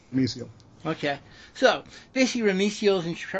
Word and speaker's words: Rumisiel: Rummy Spawn? Rumisiel. I get that question a lot, but I've always pronounced Rumisiel.